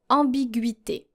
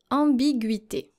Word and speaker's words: ambiguïté: When you have a G, U, and then followed by a vowel, most of the time your U is going to be silent. So you're supposed to pronounce it Guy, for example, if it were just an ordinary I. But the double dots, which we call tréma in French, cancels the silent character here, and you are supposed